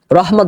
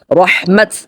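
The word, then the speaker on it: رحمت: আওর আল্লাহ কি রহমত রহমত অনেকে ভুল করেন উচ্চারণের ক্ষেত্রে রহমত বলে আসলে রহমত না উচ্চারণ হবে রহমত আর উসকি বরকাতি এবং তার বরকত আল্লাহর রহমত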